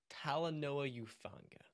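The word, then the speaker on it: Talanoa Hufanga: par okay so a couple of things friend pronounce it with me tala Paula Noah Noah who who fun fun yeah tala Noah euphanga tala Noah youfanga over reaction reaction yep what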